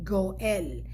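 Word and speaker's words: גואל: So the way you pronounce the other Gaal is actually Goel, right?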